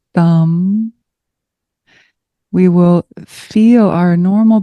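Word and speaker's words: tam: And so let's imagine as we sound one sound, it's a T-A-M, thumb. Her seed, it's like her seed syllable, bija mantra. And as we sound thumb, we will feel our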